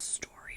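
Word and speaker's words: Storee: who names their kute story and it's spelled weird too s t o r e e okay so anyway story okay story um goes back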